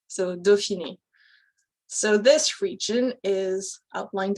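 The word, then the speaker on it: Dauphiné: in there it's pronounced doshini so the au in french gets pronounced as an o french has a lot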